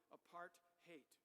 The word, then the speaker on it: apartheid: South Africans pronounce it apart-hate.